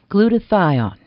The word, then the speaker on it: glutathione: Glutathione. Doctor, what is glutathione? Am I pronouncing it right?